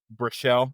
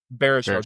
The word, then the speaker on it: Baruchel: And then you have Jay Baruchel, I think is how you say his last name. Baruchel? Baruchel, Jay Baruchel.